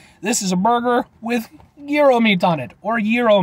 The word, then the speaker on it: gyro: is a burger with gyro meat on it or gyro meat I know it's you know different pronunciations at least I'm called a gyro okay give me Giro give me Giro uh